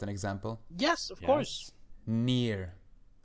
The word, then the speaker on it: NieR: Nier. Nier. That You game. don't need to spell it. Well, some people will probably hear near, like, oh, he's near me.